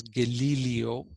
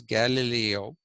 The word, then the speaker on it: Galileo: India we say Galileo he's not to be pronounced as gal IO is Galileo g a l i l e o Galileo